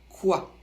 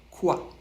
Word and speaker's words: quoi: fait le son a c'est un ou suivi d'un a prononcé assez rapidement le tout fait quoi celui-là on l'utilise quand